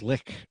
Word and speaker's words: lich: Oh, yeah, lich, huh? Yeah, it's lick, and that's just the way it's pronounced. It's a German word.